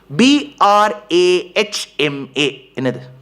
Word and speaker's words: Brahma: H M A Brahma when you pronounce it the way it is written it is Brahma. Oh yes sir. But why do we say Brahma? Because in samskrum there is a rule you put that some of you